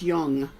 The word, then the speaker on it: Jung: It's spelled Jung, but it's pronounced Jung.